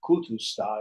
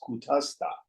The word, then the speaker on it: Kutastha: It's not Kutusta, it's Kutasta.